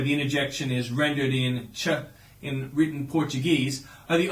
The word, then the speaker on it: che: use of the Argentinian interjection Che, pronounced Che, which is used in much the same way as hey, pal, or mate are employed colloquially in various English-speaking countries.